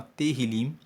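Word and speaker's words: Tehilim: livro de Salmos no texto original se chama terril se escreve t e h i l i m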